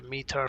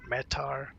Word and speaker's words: METAR: So, we're looking at the mear for the for the departure first or metar depending on your pronunciation.